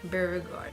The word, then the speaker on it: Beauregarde: Is that how do you pronounce it? Beauregarde.